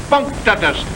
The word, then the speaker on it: punctatus: Octopus punctatus. Accent on the punk.